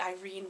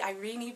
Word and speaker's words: Irene: with this names that I do not like the irene pronunciation that was very popular in my grandma's generation I love the ireenie pronunciation though when I was little